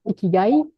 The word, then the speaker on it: Ikigai: Ikigai, mon Dieu, c'est tout un programme. Ikigai. Il y en a qui le prononcent Ikigai.